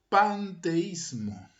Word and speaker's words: panteísmo: Quiero expresar bien esta palabra, paneteísta, para diferenciarla de otra cosmovisión que se pronuncia casi igual y tiene ciertos parecidos, que es el panteísmo.